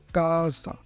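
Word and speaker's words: casa: মতো Bambino Bambino চিন যদি চি এর পরে আ ও উ থাকে তখন এটি ক এর মত উচ্চারিত হয় যেমন কাজা কাজা যদি চি এর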